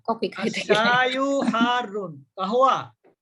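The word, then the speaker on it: قهوة: আশায়ু ওরা তো ওখানে হারুন, গাওয়া বলে, গাওয়া তো বলে না। ওই তো ওরা গাওয়া বলে, গাহওয়া। ওদের উচ্চারণ এরকমই হয়, ওরা তো ওদের ভাষাগত সমস্যা আছে।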